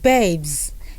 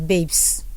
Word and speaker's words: babes: This word babes, people pronounce that word as babes. Hey babes. Okay, the letter S that is producing the sound of Z, so you rather say babes. And by the way, the E there is silent.